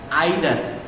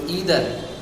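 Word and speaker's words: either: তখন আমি ওই চিন্তা করলাম সাথে সাথে যে আমি তো উচ্চারণ করি এটা আইদার, বুশ তো উচ্চারণ করলো ইদার। ঠিকই আছে, আমেরিকান উচ্চারণ একরকম হবে, ব্রিটিশ উচ্চারণ আরেক রকম হবে, 2টার উচ্চারণ আলাদা আলাদা।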